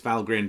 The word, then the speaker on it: Valgrind: So Valgrind, often mispronounced Valgrind. I assumed it was some kind of portmanteau of value grinder, but no, it's Valgrind.